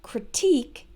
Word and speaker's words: critique: We had criticize, criticism, and critique has the stress on the second syllable, plus the E sound as in weak.